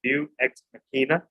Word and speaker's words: Deus Ex Machina: And finally, the title is pronounced Deus Ex Machina, and it means ghost in the machine.